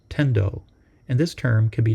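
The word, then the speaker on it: 顛倒: In Japanese, the kanji used here are pronounced tendo, and this term can be translated as confused.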